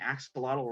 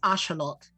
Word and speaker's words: axolotl: I was like, oh, we've been saying axolotl wrong the whole time. I think it's Ashalot. Ashalot, yes, that is the actual pronunciation.